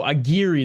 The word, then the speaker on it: Aguirre: Oh, Aguirre, that's how you say his name.